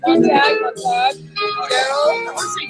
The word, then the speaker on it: Montag: Montag, like Fahrenheit 451.